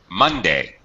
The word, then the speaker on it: Monday: Notice Monday. Notice how that's pronounced. What's going on with day? Monday, Tuesday, Wednesday, Thursday. What's going on there, Minor? Is it unstressed, or is it in fact? It is unstressed.